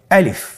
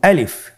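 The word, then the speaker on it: ألف: আলিফ। আমাদেরকে বলতে হবে বলুন আলিফ। আলিফে কিন্তু কোন টান নেই। আপনারা বুঝতে পারতেছেন আমি যখন আলিফ বলছি এর মধ্যে কোন টান হবে না।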